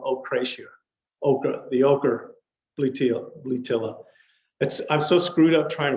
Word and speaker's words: Bletilla: And I looked up the correct pronunciation, which is bletilla, and it doesn't roll off my tongue.